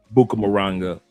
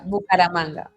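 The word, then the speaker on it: Bucaramanga: Do you know anything else about Buka Moranga? If I and I know I pronounced that incorrectly. Paramanga. Buaang. It's like manga car manga manga. Did I get it? Yeah. Bukara manga.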